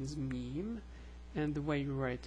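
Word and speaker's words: ميم: meme which is equivalent to the M it's pronounced M and the name is meme and the way you write it is like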